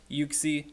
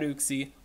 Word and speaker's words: Uxie: And if you're wondering, yes, it's pronounced Uxie, not Uxie.